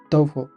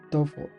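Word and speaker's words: TOEFL: cuales eran muy pocos puntos por cierto se pronuncia tofu mucha gente dice todo lo doy solo cosas raras pero la pronunciación correcta es tofu ese año me la pasé estudiando mucho más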